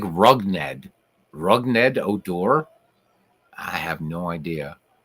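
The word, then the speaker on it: Rougned: It's by the way, his first name is pronounced Rugned. Rugned? Rugned.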